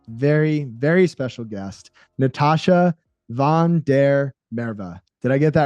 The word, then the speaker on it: Van der Merwe: Just because growing up in South Africa, it's actually pronounced, it's Dutch, and it's pronounced Van Der Merwe. And it just kind of rolls.